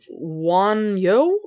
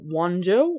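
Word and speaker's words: Wunjo: This one is, I believe, pronounced Wanyo or Wanjo. I don't think that, I don't think that they had the, J sound way back then, so I'm pretty sure that was probably pronounced with a Y.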